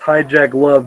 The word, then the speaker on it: Hijkl: Yeah, I put out a tweet saying that my name is Hijkl and it's pronounced Hijack Love.